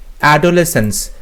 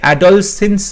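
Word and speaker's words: adolescence: Question number 58, অ্যাডোলেসেন্স। দেখো এখানে অ্যাডলসেন্স বলছে, অ্যাডলসেন্স হয় না, অ্যাডোলেসেন্স হয়।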